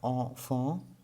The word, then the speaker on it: enfant: So here in the word enfant, we are not pronouncing the letter T.